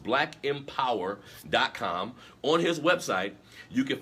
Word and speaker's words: blkmpwr.com: m p w r dot com it's it's pronounced black empower dot com on his website you can find books he